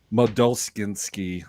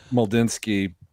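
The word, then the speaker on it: Mlodzinski: Like, so the two pitchers that are currently in the rotation are Bailey Falter and Cameron Moldulskinski. That's not how you pronounce it. Starts with an M. Moldinsky. Okay, so over 4 ERA.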